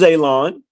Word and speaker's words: Alon: But my name is Alon. If you don't know, pronounce like you're gonna cut grass, like you're gonna cut a lawn. It's not spelt that way, but it is pronounced that way.